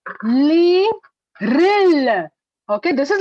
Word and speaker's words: Liril: I would always say Lilil. मुझे Liril बोलने ही नहीं आता था. मैं Lilil बोलती थी या Lilil बोलती थी. But then as I kept growing up, I was able to say it correctly.